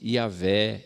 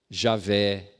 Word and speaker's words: Javé: consoantes do alfabeto hebraico então a pronúncia não tem uma pronúncia definida porque o judeu não guardou essa pronúncia mas preferencialmente yavé ová Javé Jeová não é Jeová é uma apropriação das testemunhas eh tem problema nenhum